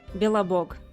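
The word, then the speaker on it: Belobog: much more complicated than that foreign book it's pronounced billabog it literally means the white God Bella Buck is the worst Slavic God of good luck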